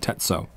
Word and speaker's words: Tetsuo: You say it like almost one word, Tetsuo.